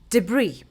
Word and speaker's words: debris: So when something is French and there is an S in the end, you do not pronounce it.